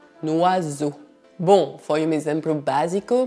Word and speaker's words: oiseau: E por fim, as letras E mais A mais U, que devem ser pronunciadas como um bloco e que fazem o som O. Portanto, essa palavra não é pronunciada oiseau, mas un oiseau. Un oiseau.